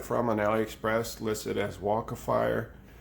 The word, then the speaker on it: Walkefire: I bought it from an Aliexpress listed as waka fire it's spelled wal ke f ir e i got